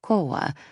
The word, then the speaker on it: Cora: "No, Cora, it's Ben," he said, pronouncing her name more like Koa.